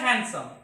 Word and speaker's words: handsome: Was very big एंड handsome big and handsome big and so here the letter D is silent.